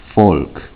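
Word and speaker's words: Volk: not in uh german the v in german makes like an f sound often times like the word uh folk is spelled v-o-l-k but it's pronounced folk and it means like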